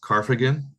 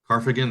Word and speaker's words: Karfagen: called I mean I'm not sure how to pronounce it but it's carf again carfagan that's k-a-r f-a-g-e-n which means carthago now there's